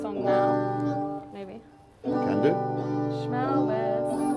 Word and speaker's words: Shmelvis: Schmelvis. Rhymes with Elvis.